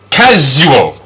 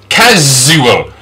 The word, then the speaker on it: casual: Next sound, casual, casual. This is the Z sound. I know it's a letter S, but sometimes we pronounce S like a Z.